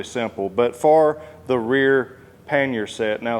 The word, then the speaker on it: pannier: rear paner set now some of you are probably saying Blake that is supposed to be paner and there's several different ways that people pronounce it but I did do a little digging and research and this is like a French word that they use for these boxes here or storage racks or